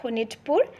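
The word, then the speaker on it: Sonitpur: king of sonit poor in assamese we can pronounce it like honitpur okay he became the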